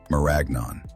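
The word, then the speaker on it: marañón: The cashew is a handle to a fruit called a marion, pronounced like lasagna, maragnon.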